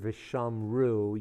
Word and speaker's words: ושמרו: When you hear the word Vishamru, you should hear the U sound at the end. Vishamru, Baruchu, Gadlu, Hallelu. When you hear the U sound at the end of a Hebrew word,